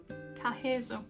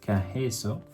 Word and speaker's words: Carreço: Yeah, something Carreço, I think it's pronounced something like just that. Just a minute. Hang on. Carreço. Carreço.